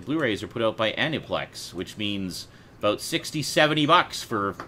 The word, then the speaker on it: Aniplex: it goes Anipolex. Anipolex. Well, that's just silly. I can't believe that Sean has finally joined the 21st It's spelled- century. It's spelled Aniplex. That's Aniplex.